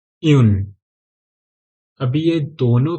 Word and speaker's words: un: zero pronunciation पूरा same है next one यन यन अभी यह दोनों भी वन ही है ओके